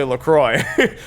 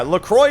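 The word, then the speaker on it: LaCroix: a can of Lea but it's actually lroy which is how I would think to pronounce it if I wasn't overthinking it why don't I recall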